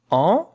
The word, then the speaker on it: envoyer: Envoyer. Envoyer. And look at how to pronounce it. En, it's a nasal vowel. V, w, a, voix. Ye. That is y sound. Y.